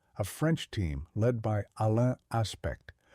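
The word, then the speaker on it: Alain Aspect: And in the 1980s, a French team led by Alan Aspect, pronounced Alan Aspe, built the ultra fast optical switches needed to test Bell's theorem in the real world.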